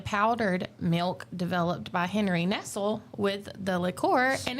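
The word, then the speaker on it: Nestlé: It's Nestle. Nestle. Yes. The more you know. Little bit different. That's the way they do it on TV. So, I'm assuming that's the way they pronounce it.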